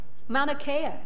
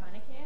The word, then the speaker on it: Mauna Kea: Mauna Kea. She said it right. Mauna Kea, yes.